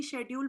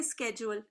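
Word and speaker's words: schedule: जैसे अमेरिका में पाकिस्तान में उसको पूरी जिंदगी शेड्यूल पढ़ते आए थे। यहां ये कहते हैं स्केेजुअल इसको के बना देते हैं।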